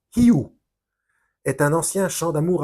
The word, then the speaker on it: Hu: Alors, Hu, H-U, se prononce Hiu, est un ancien chant d'amour à Dieu.